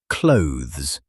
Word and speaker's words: clothes: Most learners pronounce it with 2 sounds, like clothes. But actually, It's just one syllable. Just one. Yes, it should sound close to the word close, but with a soft, blended th sound tucked inside.